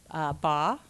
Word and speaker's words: Baugh: Okay, well, now what I'd like to do is introduce our showcase presenter this evening, Jonathan Baugh, which rhymes with law, the founder of Dermanaut.